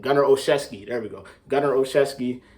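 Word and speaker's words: Olszewski: know how to say his last name gunner oshevsky there we go governor oshevsky uh hopefully hopefully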